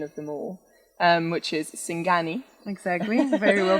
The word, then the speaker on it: singani: And then the last thing that we have here is probably the most Bolivian of them all, which is Singani. Exactly, very well pronounced.